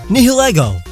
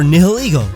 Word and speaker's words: Nihilego: Until we get official pronunciation, it could be Nihilego, Nihilego, or Nihiligo, because it all depends on whether or not we would pronounce it the Latin way or the English way. English would make it Nihil and Ego, while Latin would make it Nihil and Ego.